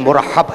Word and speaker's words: مرحب: میں مرحب ہم کہتے ہیں لیکن اس کا صحیح تلفظ جو ہے پروننسیشن مرحب ہے.